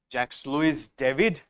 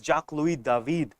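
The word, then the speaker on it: Jacques-Louis David: David is written as Jax Lewis David but it's pronounced as Jac L David because he's a French person okay so he made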